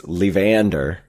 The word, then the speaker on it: Levander: So, it's Levander. Sort of like Evander Holyfield.